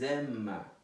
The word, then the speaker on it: aiment: Depois, o final, il, elle, aiment, final, ENT, e mais uma vez você vai pronunciar ils aiment, ok? Sem o aiment, ils aiment, simplesmente, ok?